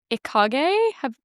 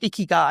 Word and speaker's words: Ikigai: But Ikigai. Have you heard of No, them? I haven't read Okay, that one. so it's the Japanese. Oh, I pronounce it Ikigai.